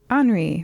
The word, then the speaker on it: Henri: woods with your grandfather, Henri, right? I assume that's how that's pronounced. It's an H. That is correct, yes.